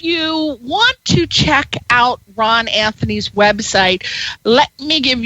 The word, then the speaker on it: Rahn: If you want to check out Rahn Anthony's website, let me give you the address. Now, it's not spelled traditionally. It is spelled R-A-H-N, R-A-H-N, and it's not spelled like Anthony either. It's A-N-T-H-O-N-I.